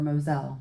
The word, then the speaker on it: Mosel: all the way down the Mosel, or Moselle, depending on what country you want to pronounce it in.